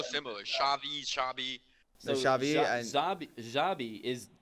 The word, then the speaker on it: Xabi: I did think about Xabi Alonso or Xabi. Am I saying it right? Yeah, Xabi. It sounds so similar. Xavi.